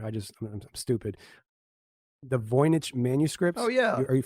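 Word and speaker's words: Voynich: just I'm stupid the voyich manuscripts oh yeah are you familiar some people say vonic but yeah absolutely vonic okay got it see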